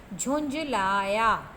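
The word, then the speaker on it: झुँझलाया: चंद्र बिंदू लगाई जाएगी उसके बाद झल्लाया लिखा हुआ है और सही विषय जलाया झुंझलाया मैं इसमें भी चंद्र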